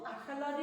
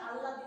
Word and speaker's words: আহলাদি: যেহেতু আহলাদি আমরা উচ্চারণ করবো, আহলাদি আল্লাদি নয়।